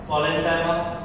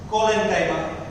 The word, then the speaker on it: collenchyma: collenchyma, sclerenchyma. parenchyma, collenchyma, sclerenchyma.